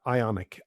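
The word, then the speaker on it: IonQ: Uh, Ionic. I NQ is how it's spelled.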